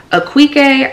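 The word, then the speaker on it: Akwaeke: is called freshwater by aquike I want to say say it's how you say her name or their name I'm sorry I'm messy this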